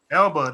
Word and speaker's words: Elba: Elba, not Elba. Jessica Alba. What you mean? Oh, that's a different Alba. It's A Alba. No, yeah, I'm talking about L, like Elba. EL. Elba. Elba.